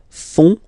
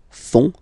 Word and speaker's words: font: And ils, plural, font, final T not pronounced, font, font, elles font.